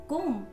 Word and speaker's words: comb: B is not pronounced in these words. B चा उच्चार या शब्दांमध्ये केला जात नाही. Bomb, climb, comb, crumb, doubt, dumb, lamb, plumber, numb, thumb.